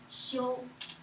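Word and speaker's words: 休: So a man, a tree, that is rest. We pronounce xiu.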